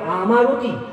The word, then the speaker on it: অমৃতি: তখনকার লোকের উচ্চারণের জন্য ওটা হয়ে গেল আমাবতী, আমাবতী হয়ে গেল আমারতী, আমারতী থেকে হয়ে গেছে অমৃতি। এবং এখনো কালিয়াচকের লোকেরা আমর্তি কথাটা বলে, অমৃতি বলে না, আমর্তি বলে।